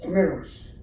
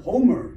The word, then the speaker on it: 호메로스: 원래 그 어는 헬라 어로는 호메로스 호메로스 예 그리고 이제 영어로는 호머 또는 호메 이렇게에 부르고 있는데 일리우드와 어드세 원래 이거는 영어식 발음입니다.